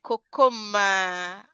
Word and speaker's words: Kokoma: Kokoma, I like to call your name like we call it in Nigeria. I know that's probably not how it's pronounced in South Africa, but I just like Kokoma.